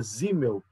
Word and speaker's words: Simmel: simel mas se pronuncia zimel porque em alemão o s tem som de z Tá bom então é